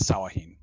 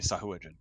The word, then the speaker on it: Sahuagin: I'm going to say that the lizard folk pronounce it as Sawahin. Okay, Sahuagin. More common, like in the common tongue, it would be Sahuagin.